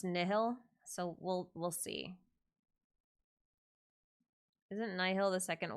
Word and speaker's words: Nihil: Yeah, I would prefer they pronounce it Nihil, as in nihility, but I've also heard it pronounced Nihil, so we'll see.